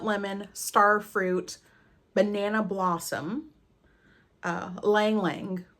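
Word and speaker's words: ylang-ylang: So the keynotes for Maldives in a Bottle is rosemary, wild lemon, star fruit, banana blossom, lang lang, the Y is silent, I went to double check, and coconut milk.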